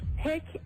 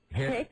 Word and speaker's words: hic: You would say, hic est ridiculus locus. You're going to have to do that phonetically for us. We're very slow. No, she's play acting. Hic.